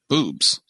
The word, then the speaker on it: Bubs: big names out there but it's boobs is what it's called but it's spelled bubs oh really yeah I